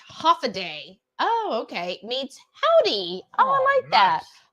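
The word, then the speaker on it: Hafa Adai: Zenobia said, Haffa-a-daya, pronounced half-a-day.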